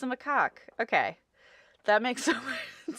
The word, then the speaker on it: macaque: excellent I looked it up for you it's pronounced macaque I would not have guessed that oh that's a monkey okay that makes sense it's a macaque okay that makes so much sense I have